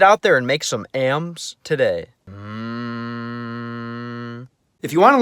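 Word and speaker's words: М: In the cerillic context, the letter is called am.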